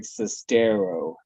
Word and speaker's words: Sestero: So everybody does not know of Greg Sestero, the one that nearly rhymes with stereo.